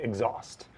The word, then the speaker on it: exhaust: Austerlitz so people say exhaust and the emphasis there is on the second syllable there's two syllable eggs at exhaust right and I can